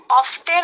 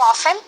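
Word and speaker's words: often: অফটেন এবং অফেন দুটা উচ্চারণই করা যায়।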